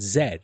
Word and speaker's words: Z: every other english-speaking country the letter Z they pronounce it Zed they don't say Z you know the only